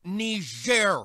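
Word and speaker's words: Niger: mad about that thing it's pronounced ner Mr President and it's a country in Africa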